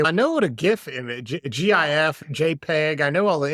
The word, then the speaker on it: GIF: interface format right okay so it should be a hard g g j okay so it's a GF okay all right it's a big debate it's a big debate but I am of the hard G persuasion so so people are